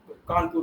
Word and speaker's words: Kanpur: Kanpur is pronounced as Kanpur by the Brits.